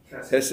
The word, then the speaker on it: hesed: It is the word, pronounce that one. Hesed.